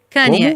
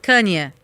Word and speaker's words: Kanye: Como é que se pronuncia o nome dele? Você vai perguntar pra mim? Tá, ok. Kanye, isso, Kanye.